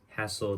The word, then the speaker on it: hassle: So rhymes with castle, hassle, castle. Good.